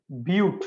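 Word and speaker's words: but: 4 வரக்குள்ள பியூட். உண்மையா பட் இல்ல, இது பியூட் தான்.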